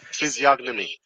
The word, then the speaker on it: physiognomy: yeah I like that that is more reasonable physiognomy stop texting me I got it goty am